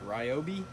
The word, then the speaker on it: Ryobi: So, I'm gonna probably butcher how you say it, but it's a Ryobi, R-Y-O-B-I.